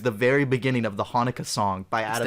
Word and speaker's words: Hanukkah: When I switched to the radio, it was the very beginning of the Hanukkah song by Adam It's the Sandler. Hanukkah song. You pronounce it Hanukkah, dude.